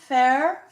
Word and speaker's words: Fehr: Fehr, Fehr. Is she here? She's here. are you here? Stand up, darling. Raise your hand. Flip virtual coins. I don't want to. Fair. It's pronounced fair.